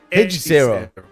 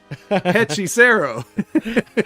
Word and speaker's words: Hechicero: And in this one, Hechicero starts with an H, so we don't say it, but that would mean you would say Hechicero.